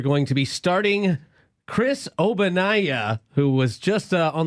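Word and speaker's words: Ogbonnaya: yet no okay chris obanai is spelled with a og okay the g is silent so his nickname is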